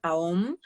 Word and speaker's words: OM: la unión de tres letras, A, U, M, AOM, que se pronuncian, que supuestamente es la vibración más elevada, la vibración del todo, del universo, ¿no?